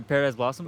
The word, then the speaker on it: Paradise Blossom: So- Am I saying it right? Yeah, Paradise Blossom.